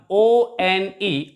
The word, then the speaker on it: one: course it starts with it begins with the letter o which is a vowel but when we pronounce it we pronounce it like one and ver sound is a consonant sound that's why we use